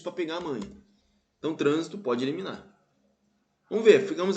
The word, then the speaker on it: trânsito: beleza na letra e trânsito ó transito trânsito é uma proparoxítona transito a anti penúltima sílaba é mais forte vê como é que